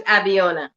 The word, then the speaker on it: Abiona: pronunciation of your name i don't know if i was saying it correctly yes it was actually my name is abiana okay all right all